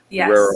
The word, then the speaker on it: Terrero: Is Terrero is the correct pronunciation, right? Terrero Yes.